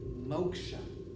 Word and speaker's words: moksha: until keep your fingers crossed you can experience moksha this is pronounced motion what moksha literally means it literally